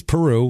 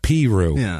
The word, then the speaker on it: Peru: And uh of course, the pronunciation wise, it is Peru like the country.